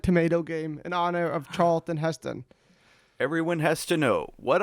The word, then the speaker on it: Charlton Heston: to name this episode charleston heston because everyone keeps saying it that way wait charles what is it what is it really it's charlton heston i think joey has said